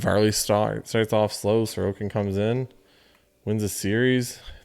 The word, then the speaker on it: Sorokin: know which one it i don't know which one it is now sorokin or sorogan it's sir okan that's what it is uh but it's canvas